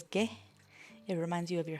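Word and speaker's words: げ: This is ge. You pronounce it as ge.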